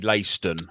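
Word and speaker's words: Leiston: they are called uh well the way you pronounce it would be layston so they're called lacedon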